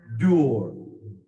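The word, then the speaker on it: Dorr: with it his name her name is pronounced door d-o-r-r pronounced door in fact he oftentimes manifests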